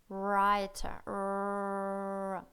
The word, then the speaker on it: writer: Особенно при написании W и R вместе. Мы не произносим W, не произносим, мы произносим только R.